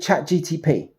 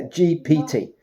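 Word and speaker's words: ChatGPT: routines, I've gone with chat GTP. Have I said that right? Yeah. GPT. Yes. So I always get it confused and say it wrong and my kids kind of laugh at me.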